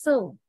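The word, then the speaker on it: sew: S-E-W, we don't say so, no, right? S-E-W, we pronounce the word as so.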